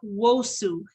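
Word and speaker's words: Nwosu: of this stuff um peter wosu the n is silent okay and this is the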